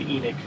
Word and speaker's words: Enoch: earth if it'll lead me to Edwin and Enoch. I read a book. The reason I know it's pronounced Enoch is I read a book and it was spelt the same way, and his name was pronounced Enoch in the audiobook.